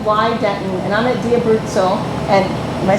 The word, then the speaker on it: Di Abruzzo: Tim reading with why Denton and I'm at DIA brutzel and am I saying it correctly yeah you